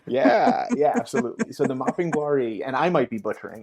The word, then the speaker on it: Mapinguari: Mapinguari. Thank you. Yeah, yeah, absolutely. So the Mapinguari, and I might be butchering it, who knows,